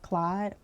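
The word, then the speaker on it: Claude: Then you have, I think it's pronounced Clyde.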